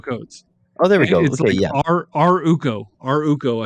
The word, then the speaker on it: ArUco: r u c o a r u c o my God this is yeah aruco codes oh there we go our UCO I think is is basically the way you pronounce it they're like fiduciaries they're